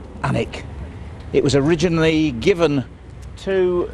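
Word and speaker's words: Alnwick: Saxon word for Homestead or Farmstead it's obviously pronounced anic it was originally given to the dichi family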